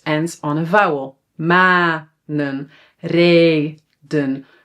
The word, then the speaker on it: reden: Manen, reden, zonen. So when a syllable is open, it ends on a vowel, then the vowel is pronounced long, but we only need to write one.